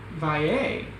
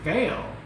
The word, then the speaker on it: Valle: Valle? That's how you pronounce it. I thought it was Vale. Valet. Or Valet, but no, it's Valle.